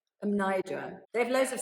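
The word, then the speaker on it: Mnajdra: I also saw, I'm going to pronounce these ones wrong as well, Hagarquim. Hajar'im, yeah. And Menadra. Amnidra.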